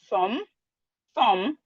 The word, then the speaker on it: thumb: We have words with silent letter B. We have doubt. we have doubt, we have debt, we have lamb, we have thumb, we have plumber.